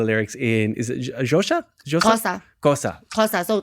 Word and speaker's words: Xhosa: Xhosa. Xhosa. So Xhosa, you say it's like you're taking something out of your teeth, like Xhosa.